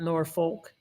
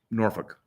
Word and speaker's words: Norfolk: It It's in the Tidewater area, Norfolk. You know, you have the Norfolk Naval Air Station and you got Norfolk Naval Station and then you have Little Creek. So, not Norfolk. Norfolk.